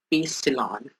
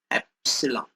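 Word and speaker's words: epsilon: जो हमने अभी लास्ट में देखा कि k की जो हमारा कूलम कांस्टेंट है that is 1/4 पाई ε0 एप्सिलॉन एप्सिलॉन, इसको ऐसे प्रोनाउंस करते हैं।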